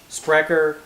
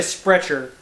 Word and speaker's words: Sprecher: sandwich it's probably like sprecker or spr but i'm going to say spreacher that's how we pronounce chs in alabama as established in milwaukee